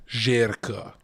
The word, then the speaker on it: Zherka: Circa that's not surprising Jerka is that's how I pronounced Jerka Albanian uh oh I just